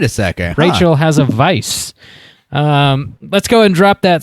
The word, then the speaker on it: Weisz: Yeah, like says to to say it is pronounce. Vice.